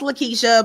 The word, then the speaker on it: Lakitia: you are perfectly fine my name is pronounced Lakeisha but I I'm used